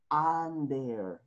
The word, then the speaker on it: under: under will wright android se escribe under pero pronunciamos ander ok escribimos un der